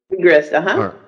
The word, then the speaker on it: Siegrist: Well, I'm pronouncing, okay, please forgive me, I'm sorry, all right. and then Siegrist? Siegrist, All right, and she's been practicing the healing arts for over 17 years.